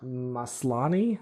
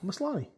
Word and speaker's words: Maslany: It's her first name is Tatiana Maslany. Yeah, Maslany. Tatiana Maslany. Yeah, that's what I'm gonna say. Anyways, Tatiana She Maslany plays She-Hulk.